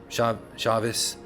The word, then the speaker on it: Shabbat: Some people call it the Sabbath or Shabbos, because they put, again, a V sound for the B, which I don't believe was the case. I believe it carried a B sound, a B, not a V.